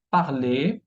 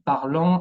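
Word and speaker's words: parlent: Entonces vemos un ejemplo, el verbo parler, hablar, verbo parler, al plural, a la tercera persona del plural, se dice il parle o elle parle, y no il parlant o elle parlant.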